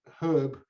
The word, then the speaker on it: herb: would say and but in england you would never say you think you've got something wrong with the diction and you always pronounce the h that's it there's no